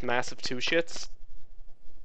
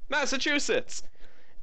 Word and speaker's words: Massachusetts: place that my dad for the longest time pronounced as massetts Massachusetts uh it is illegal to give beer to